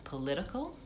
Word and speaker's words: political: Um and then political has uh second syllable stress.